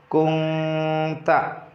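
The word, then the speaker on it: كُنْتَ: Contohnya dalam ayat ini pada kalimat kunta tidak dibaca kunta, tapi nun disamarkan ke suara eng karena ada nun sukun bertemu dengan ta. Ta adalah tadi termasuk bagian daripada huruf ikhfa yang 15. Diulangi, cara membacanya adalah kunta.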